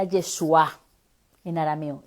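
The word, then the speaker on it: ישוע: traducción se entiende diferente ahora en arameo se pronuncia el yeshua en arameo yeshua y en hebreo y Joshua llegó en español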